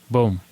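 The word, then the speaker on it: bom: Okay, good is bone. Boom. Boom. B O M if you're if you're writing it down.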